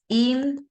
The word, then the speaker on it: interesting: Let's say that is interesting, right? The stress or the accent, let's say, goes in the first syllable, okay?